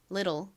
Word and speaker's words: little: TTLE는 till 소리가 나는데 미국식 원어 발음으로는 이 T 부분을 리을처럼 읽는다고 말씀드렸죠? 그래서 미국식 발음으로는 little 이라고 발음합니다. 같이 발음 연습해 볼게요. little, little.